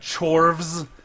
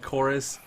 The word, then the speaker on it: Chorus: Yeah, you got Chorvs. I refuse to call it Chorus. If you're gonna make your U look like a V, I'm pronouncing it like a V.